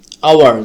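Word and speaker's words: hour: পরবর্তী শব্দটি হচ্ছে আওয়ার, যেটা আমরা আওয়ার, এখানে এইচের উচ্চারণটা হচ্ছে না, হাওয়ার হচ্ছে না, বাট এখানে ওর উচ্চারণটা, মানে এইচের উচ্চারণটা এখানে বাদ পড়তেছে, জাস্ট আওয়ার, আমরা ও ইউ আর, আওয়ার, এতটুকুর উচ্চারণটা হচ্ছে।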